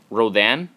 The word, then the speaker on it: Rodan: So, I think this might be um Rodan possibly or Roden, however you want to pronounce it.